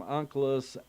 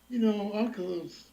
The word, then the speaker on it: Onkelos: The accent is on the Aleph, the last syllable, and it is rendered by Targum Onkelos as Atiyah, is coming in the present tense.